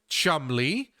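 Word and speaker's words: Cholmondeley: You have to change the name, change the spelling of these things to Chamli, uh, Funshaw, and Wooler.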